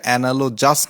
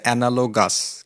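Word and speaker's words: analogous: এটার উচ্চারণ কিন্তু অনালোজাস না। উচ্চারণটা হচ্ছে অনালোগাস। কিন্তু নাউনের উচ্চারণটা এনালোজি। তো দেখেন ডেইলি স্টার থেকে নেয়া বলছে battle between Nepal and India is অনালোগাস fight between David and গোলায়াত বা গোলিয়াত।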